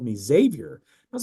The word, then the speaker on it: Xavier: I've always said that just with the straight Z sound. Xavier.